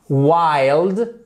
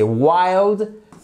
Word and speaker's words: wild: très est vraent authentique alors là j'insiste sur la prononciation des voy wild je fais n'importe quoi voilà wild on ouvre bien wild et c'est pas wi c'est pas non c'est wild on fait bien notre